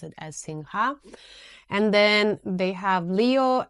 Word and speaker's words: Singha: Thailand it's pronounced as Singh so when I like when I used to come to Thailand to travel I always would say like singha but then I heard Thai people say sing so now I just